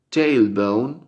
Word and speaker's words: tailbone: Se pronuncia tailbone, tailbone, tailbone, tailbone, porque la T al principio en inglés se pronuncia generalmente un poquito más fuerte, tailbone.